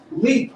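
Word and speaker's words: Liik: So on deck, we have, and I don't want to mispronounce this, L-I-I-K. L-I-I-K. Leak.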